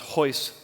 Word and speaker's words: Royce: first match Royce also it's written like Royce but it's pronounced hoist um Gracie he actually